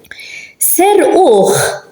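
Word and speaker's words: serquh: Ser-uch, they stole him. Ser-uch, it's an akka, but it's at the end of a word, but we pronounce it as a ch.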